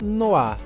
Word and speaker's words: noir: Mas o que significa noá noá pessoal significa a palavra preto essa palavra está em francês e se pronuncia dessa forma mesmo Preto nada mais é